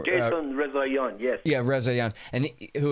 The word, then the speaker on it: Rezaian: Jason Rezaian, yes.